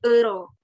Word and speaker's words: euro: mata uangnya ada Euro Nah kalau di Bahasa Indonesia kita bilangnya Yuro Ya tapi kalau di bahasa Perancis kita bilangnya Euro ya Sunda banget nih awalannya Euro ya jadi semoga tidak